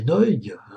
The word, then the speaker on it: Nagy: Alors je dis Nagy parce que je le prononce à l'hongroise, sachez qu'en hongrois, Nagy, Nagy, ça veut dire grand.